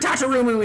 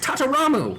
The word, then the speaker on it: Tataramu: ] free his bird tatarumu is also I've been pronouncing his name wrong it's tataramu whatever how did you find